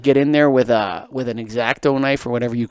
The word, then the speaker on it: X-Acto: Finally, we agree on X-Acto knife is the right way to say it.